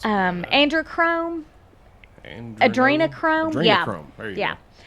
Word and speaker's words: Adrenochrome: The celebs are low on androchrome. Yes. And I can't pronounce it. Androchrome. Adrenochrome?